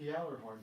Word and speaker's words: Gjallarhorn: Well, The, it says something about Jaegers, it's spelled with a J. GJ. Gjallarhorn, GJ, Gjallarhorn.